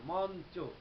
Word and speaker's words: মঞ্চ: যেমন মঞ্চ, এই শব্দটি যদি দেখি, তাহলে উচ্চারণ করে কি আমরা লিখছি ম ইউ চ যুক্ত, কিন্তু উচ্চারণ করি ম নয় হসন্ত চয়কার, মঞ্চ। অর্থাৎ কিনা ইউটি দন্তন্য হয়ে গেল, মঞ্চ।